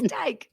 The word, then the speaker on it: Teich: And so usually I just tell them, it's like little tyke, Tyke. But a lot of people look at it and they go, oh, like Reich.